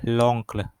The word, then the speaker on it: l'oncle: Karena ada L-nya nih, apostrof depannya kan dia huruf vokal. Oh, jadi bacanya l'oncle.